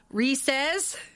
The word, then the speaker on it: Reese's: So what about Reese's? It's supposed to be Reese's Pieces. Reese's Pieces. Because Reese's does not rhyme with feces.